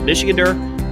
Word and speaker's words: Michigander: It took me several times to try to pronounce Michigander's name. I wasn't sure if it was Michigander, but it's Michigander.